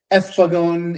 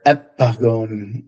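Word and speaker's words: ἔφαγον: Yeah, ephagon in the traditional, or epagon in what I think is a restored classical pronunciation or restored Attic pronunciation.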